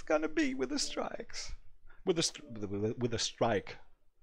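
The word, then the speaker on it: Streik: German word for strike strike Einstein it's it's the same word just that you write the German instead of s-t-r-i u s t r e i because that's how Germans pronounce the I if you if you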